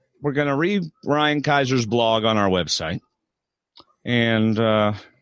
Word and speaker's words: Kaiser: Kaiser.